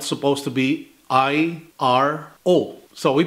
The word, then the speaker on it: iro: So for example, the word iro, which is spelled supposed to be I-R-O. So we pronounce it as iro, which means a dog.